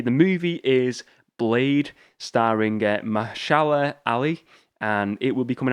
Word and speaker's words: Mahershala Ali: The movie is Blade, starring Mahershala Ali, and it will be coming out in November 3rd, 2023.